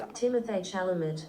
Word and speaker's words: Timothée Chalamet: He, oh man, how do I pronounce this? I'll do it on speaker. Ready? I think it's Timothée Chalamet.